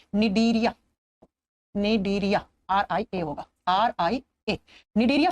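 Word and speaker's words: Cnidaria: लिखा जाता है सी से, लेकिन प्रोनाउंस करते हैं तो एन से करते हैं, निडीरिया।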